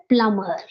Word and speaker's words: plumber: sound m like yeah plumber plumber it is plumber plumber B sound drop B sound in the same